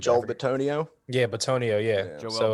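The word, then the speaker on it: Bitonio: Hodges, the receiver, and then I forget how to say his name, like Bolatoni, something like Joel that. Batonio.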